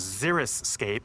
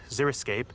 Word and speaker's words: xeriscape: heat in the summertime the true pronunciation of the word is xeriscape xeriscape it comes from the greek root or xeric referring to dry the main principles of